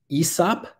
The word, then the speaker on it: hyssop: But anyway, hyssop, sometimes pronounced aesop, and that comes from